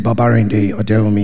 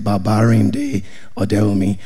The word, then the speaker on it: Babarinde Odewumi: My name is Babarinde Odewumi. If you want to know how to pronounce the name, just pronounce every syllable, every vowel, just pronounce everything, Babarinde Odewumi.